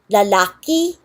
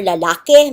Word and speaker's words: lalaki: Because the E and I actually only had one symbol and you can pronounce it either way.